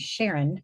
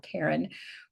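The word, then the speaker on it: Charon: And I have a daughter named Sharon, or Karen. It's spelled with a ch.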